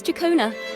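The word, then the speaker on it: Ciaccona: My name is Jacona, a wandering bard. I'm glad to have met you. Chona. I would never expect it to be pronounced that way.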